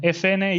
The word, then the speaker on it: Efene: it's how you pronounce in Spanish MSN and FNA is how you pronounce in Spanish FN the two letters so